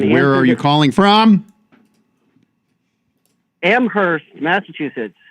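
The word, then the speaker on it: Amherst: are you calling from Amhurst Massachusetts amst massachus copy that without we don't we don't pronounce the h here I got turn this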